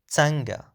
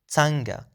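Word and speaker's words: څنګه: The next question word is tsanga. Be careful to the pronunciation is tsanga. So it's a schwa sound after the ts sound.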